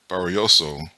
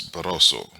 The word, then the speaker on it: Barroso: This man, they literally stopped the fight while Ismael Barrioso was, oh, I assume it's Barroso. I'm saying his name wrong. It's Barroso.